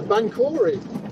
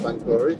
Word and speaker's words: Banchory: I talked to a Scottish lady and I said Banchory and then I thought I said it wrong and she said Banchory too. So okay. And she was just humouring me, or that is how we say it.